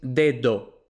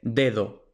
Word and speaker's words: dedo: D en español, entonces la pronunciación real de dedo no es dedo, como suelen pronunciar los extranjeros, no es dedo, no, un nativo dice dedo.